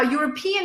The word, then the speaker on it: European: Europe and European now European is difficult because everyone says this word incorrectly because of the wrong stress so it's not European it's not something else it's European so European European European all right awesome well